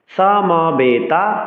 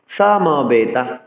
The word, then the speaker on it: সমবেতা: এবার পরবর্তী ছতে যাচ্ছি সামাবেতা ইউসাবাহা সামবেতা সংস্কৃত শ্লোক উচ্চারণে দন্তসকে এস এর মত উচ্চারণ করতে হবে সমবেতা বলতে হবে সমবেতা বলা যাবে না সমবেতা চার অক্ষর ই